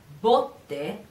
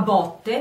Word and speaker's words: botte: So botte. Two different meanings and two different pronunciations, but written the same thing, B-O-T-T-E, same thing in Italian, but different meanings, different pronunciations.